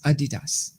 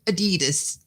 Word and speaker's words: Adidas: Adidas right that's what we're talking about it's Adidas that is the way you pronounce it do you understand that's the way that's the way it's pronounced not your American Adidas so I Potter and I were talking about